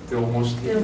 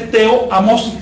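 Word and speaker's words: teomoxtli: Teomostri. Teomostri. No se dice teo-amostri, sino teomostri. ¿Por qué? Porque esa combinación TOA de tres vocales, no, eso hay que reducirlo.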